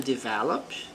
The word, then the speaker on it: develop: The company plans to develop a new product next year. Então, a empresa planeja desenvolver. Então, veja, develop, a sílaba forte está aqui no ver.